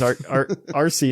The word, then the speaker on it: Arceus: going to all pronounce it differently. It is Arceus.